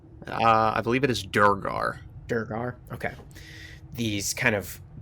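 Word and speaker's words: duergar: say it how do you how do you pronounce it brendan uh i believe it is durgar durgar okay these kind of deep dwarves they're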